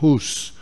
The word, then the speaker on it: Hus: Um chamado John Huss, ou Hus, pronúncia João Hus, realmente na 6 de julho de 1415.